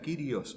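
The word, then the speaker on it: κύριος: semanas pasadas que señor significa kyrios o curioso mejor pronunciación griega no curioso sería probablemente lo más cercano al río vernáculo del día de hoy eso significa señor esté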